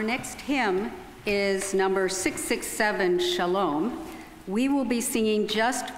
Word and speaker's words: Shalom: to God our next hymn is number 667 Shalom we will be singing Just verse number one